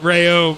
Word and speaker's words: Rayome: I call him Rayomi for a reason, obviously. Scott Rayome, how it's pronounced.